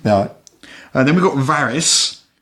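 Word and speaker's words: Varis: Then we've got Varys, which is like Varys in Game of Thrones, but spelled with an I rather than a Y.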